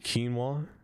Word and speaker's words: quinoa: How do you say quinoa? Quinoa. Not quinoa. What am I a maniac?